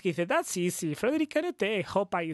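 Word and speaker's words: Kanouté: I mean, our mystery player was Canute. You have to pronounce Canute. In Spain, we say Canute. Canute. I think it probably is Canute because there's a little accent on the last E.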